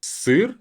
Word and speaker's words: сыр: Make sure that you say the I, сыр.